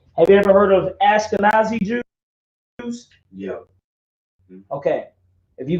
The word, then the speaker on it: Ashkenaz: a fake name have you ever heard of ashkenazi jews yeah okay if you go to verse chapter 10 verse 2.